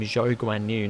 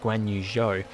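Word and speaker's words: Zhou Guanyu: try and remember to start calling him joe and you not gwen you joe because that is how you're supposed to say his name and russell just must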